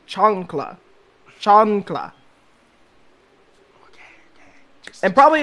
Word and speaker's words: chancla: Not chancleta, chancla. I'm not saying chancleta, I'm saying chancla.